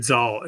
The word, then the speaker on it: Zahl: I'm here with um and I got to look up your name to make sure I pronounce it right, David Zaul, who uh co-founded Mockingbird and has a new book out called The Big Relief.